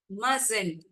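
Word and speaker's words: mustn't: won't shan't hasn't ஹாடன்ட் மசன்ட் okay மசன்ட் மஸ்டின்ட்ன்னு நம்ம படிக்க மாட்டோம் இந்த இடத்துல டி வந்து சைலென்ட் லெட்டர் மசன்ட் வி மசன்ட் டெல்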